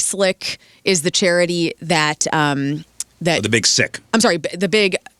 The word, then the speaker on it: The Big Sick: The Big Slick. The Big Slick. I've been saying it wrong the whole time. What an idiot. It's okay. The Big Sick.